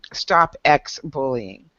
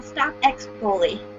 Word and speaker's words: Stop X Bully: So go in and follow Bree over there at her Stop X Bullying, right? Did I say it right? No, Stop X Bully.